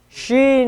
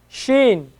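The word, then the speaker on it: شين: then we have Shen Sheen is like our sh right like like like a shake a nice milk shake right shake shake shake someone's hand sh Shen Shen so sin Shen sin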